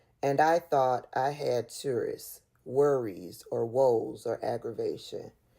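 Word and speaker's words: tsuris: And then Jeffrey Epstein responds to that and says, and I thought I had tourists.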